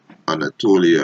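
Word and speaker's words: Ανατολή: It's Anatolia, right? It's modern Greek, right? Which is Greek pronunciation Anatoli, Turkish Anadolu, right?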